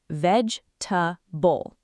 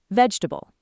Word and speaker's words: vegetable: In natural English speech, it's three syllables. Vegetable. Vegetable.